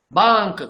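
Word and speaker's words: बांक: Don't pronounce like bank, that is English. Bank.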